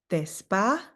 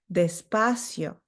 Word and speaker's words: despacio: So it's despacio, despacio, despacio. Again, that I followed by the O can be tricky for some people, so just make sure that you're pronouncing both of them. It's cio, despacio.